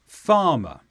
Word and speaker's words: farmer: And in the word farmer, the stress is on the first sound, farmer. In the word arrived, the stress is on the second sound.